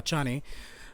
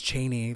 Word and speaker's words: Chani: the story to cha chani it's so weird in my in my head the whole time i pronounced her name is cheney for some reason god sorry i'm trying